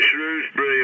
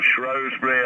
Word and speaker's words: Shrewsbury: Well, I haven't been to Shrewsbury or Shrewsbury, however you want to pronounce it, for 25, 30